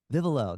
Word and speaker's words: Vivolo: Yeah, everyone's everyone pronounces it differently. Vivolo, Vivolo. Vivolo, that's what it is.